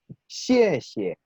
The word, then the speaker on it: 谢谢: Pero como existe esa regla y se aplica a este caso, sonaría entonces xie xie, ¿sí? Se fijan que la última sílaba de esta expresión suena un poquito más apagada que la primera.